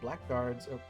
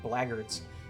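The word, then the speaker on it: blackguards: Quite effective against black guards. Uh that's actually pronounced blackards.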